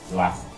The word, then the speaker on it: Doicin: Doissin, pour le monde qui va connaître, on va faire la donne, c'est D-O-I-C-I-N. C'est comme ça, Doissin.